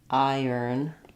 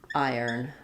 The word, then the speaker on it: iron: I think iron is one of the trickiest words to pronounce because of how it's spelled. It looks like the R, it looks like there should be an O sound here, like Ron or Roan, right? The I is fairly straightforward.